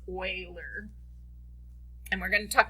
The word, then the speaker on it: Euler: so euler it is german it is not pronounced euler it's euler and we're going to talk about euler path